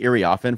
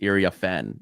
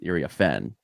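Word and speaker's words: Iriafen: us on pronunciation it's Ira Fen Accent on like the fen as opposed to the IRA Fen it's iria Fen uh so it those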